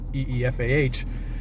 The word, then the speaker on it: Aoife: shepherd ifa ao ife but pronounced eefah and i thought that